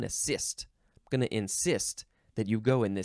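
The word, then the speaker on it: encyst: next word is insist now it's not like I insist you to listen to this show no this is spelled e n c y s t nist like some people get like cysts on their head or in their bodies um this is a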